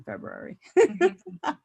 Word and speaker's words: February: My husband said that he listened to Paula Poundstone, who said that she was no longer going to talk to anybody who pronounced both R's in February.